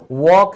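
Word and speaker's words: walk: तो चाहे टॉक है, वॉक है, इसमें एल साइलेंट है।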